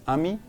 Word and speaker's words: amis: First, take note, you don't pronounce the S, amis.